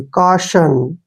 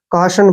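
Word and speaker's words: caution: पढ़ेंगे यहां पर देखिए यू साइलेंट रहेगा और टी आई ओ को हम श पढ़ेंगे ऐसे और एन का उच्चारण न करेंगे काशन काशन पढ़ते हैं इसको काशन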